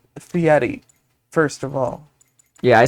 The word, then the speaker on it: Fieri: It's a Guy Fieri masks. It's Fieri, first of all. Yeah, I said it right. I said it right when I pronounced it earlier, and that's all.